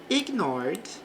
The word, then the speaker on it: ignored: He deliberately ignored me. Bom, nesta palavra o e fica suprimido, então falamos deliberately. Então aqui no final falamos ly. Ignored, não pronunciamos o e aqui do passado, e depois me.